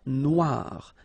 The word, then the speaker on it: Noire: Then here, la mer Noire. Same thing here that we had previously. Final not pronounced, okay? And then OI, remember, wa, noir, noir.